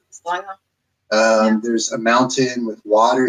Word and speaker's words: Stavanger: And since I've been here, I've staying with Eileen and staying in, how do you pronounce it? Stavanger? No? Stavanger.